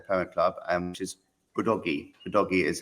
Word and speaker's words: Udogie: Udogie is how you pronounce his name.